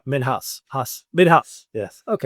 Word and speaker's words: Minhas: Minhas with the M I N H. Uh, not house. I don't know why people make that mistake, but it's perfect. I am I pronounced name wrong. Men house.